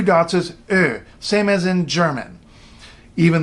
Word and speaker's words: yö: And that probably looks to you like it should be yo. Hey, yo, it's night. No, I'm sorry, it's Ö. Ö.